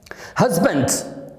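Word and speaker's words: husband: इसको देखा जाए तो इसकी राइट प्रोनाउंसिएशन है हस्बैंड। हस्बैंड है पे जाओ, स्ट्रेस आएगा, हस्बैंड, हस्बैंड।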